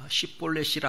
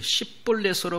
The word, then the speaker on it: 십볼렛: 영어로 보면 스펠링 하나 차이라 거기에 H가 들어갔느냐 안 들어갔느냐 SH냐 S냐 요 발음이에요.